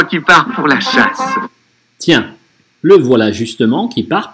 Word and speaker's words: tiens: Tiens, читаем как N-осовую. То есть не tien, а tien, tien, N-осовая. Tiens, le voilà justement qui part pour la chasse.